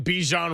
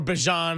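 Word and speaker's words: Bijan: Robert Salah in particular big big challenge with Michael Penn, Drake London, Bejan Robinson or Bjon I guess is the correct pronunciation.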